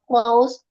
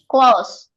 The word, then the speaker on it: clause: or topic of a close or sentence please attention Ya, this word is often pronounced wrong by Indonesians ya close walaupun the spelling is a but the pronunciation is o. CL close.